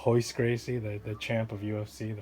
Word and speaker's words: Royce Gracie: Okay, because the R is pronounced with an H sound, like Rio de Janeiro, you know, like Royce Gracie. Remember Royce? It's Royce Gracie, the champ of UFC, the first 3 UFCs.